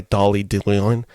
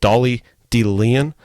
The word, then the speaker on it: Dolly De Leon: And then the steam killer of this film is actually played by Dolly De Leon. Sorry, let me repronounce that name. Dolly De Leon as Abigail.